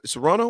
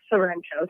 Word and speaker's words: Sorrento: Capri and Serrano or Sorrento? How you pronounce it? Sorrento.